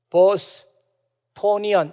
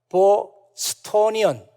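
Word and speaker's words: Bostonian: 보스 토니안 이라고 부릅니다 보스 토니안 이렇게 발음하는 게 아니라 보호 스톤 이언 이렇게 발음을 합니다 아마 여러분들은 저와 같이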